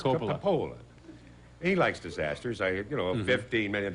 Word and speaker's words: Coppola: Oh, he doesn't know how to pronounce that. It's Coppola.